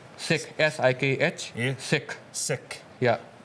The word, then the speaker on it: Sikh: So And I've known, so it's pronounced Sikh, S-I-K-H, Yeah. Sikh. sick, Yeah. because we got told sick, but sick, and it is, and I've grown up around many Sikhs, but I've never known that.